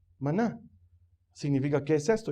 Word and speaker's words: maná: Que en hebreo se pronuncia maná.